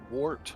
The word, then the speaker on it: wart: But guys, wart rhymes with short.